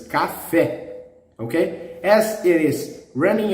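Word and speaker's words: café: you know these words it's wrong the stress is in the last silhouettes cafe okay as it is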